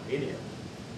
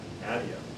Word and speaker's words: Adium: So I call it Adium. Some of the other developers call it Adium.